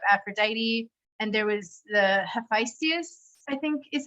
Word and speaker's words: Hephaestus: And there was the Hephaestus, I think is how you say his name. He was like said to be like ugly, but he would make Hephaestus, thank you, would make the most beautiful things for Aphrodite, right?